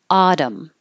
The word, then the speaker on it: autumn: can't wait for fall autumn Autumn lots of extra letters in there major rival major arrival